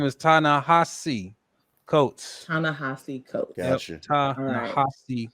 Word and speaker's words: Ta-Nehisi Coates: His correct pronunciation is Ta-Nehisi Coates. It's Ta-Nehisi Coates. Ta-Nehisi.